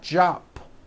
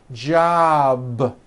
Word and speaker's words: job: For example, job ends in a B, which is a voiced sound. Job. It's not jop with an unvoiced P. Keep the voicing going throughout the whole word. Job with a voiced B ending.